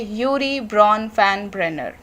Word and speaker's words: Urie Bronfenbrenner: इनका नाम थोड़ा अलग है और प्रोनाउंस करने में थोड़ी प्रॉब्लम होती है, तो एक बार दोबारा सुन लीजिए, यूरी ब्रॉन फैन ब्रेनर।